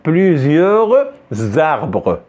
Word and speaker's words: plusieurs arbres: Et je fais la liaison entre S avec A, ça nous donne za. Ça nous donne pas ça, ça nous donne za. Donc plusieurs arbres.